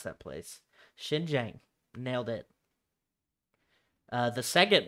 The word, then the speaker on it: Xinjiang: had a pronunciation thing up for how to pronounce that place xinjiang nailed it uh the second word is spelled